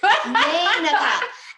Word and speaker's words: Meneka: Like, the silent E jumps over and they will hit the A to make A. Meneka.